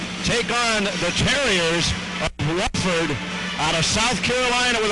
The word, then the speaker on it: Wofford: it is spelled w FF o r but pronounced wford in the first game of the tournament that'll